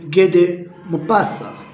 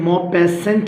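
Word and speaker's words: Guy de Maupassant: ना, जो लिखी है गेदे मुपासा. ये उनका प्रोनाउंसिएशन यही रहेगा, गेदे मुपासा. ओके. वैसे तो इंग्लिश में मोपेसेंट लिखा हुआ है बट फ्रेंच ये नहीं कहते.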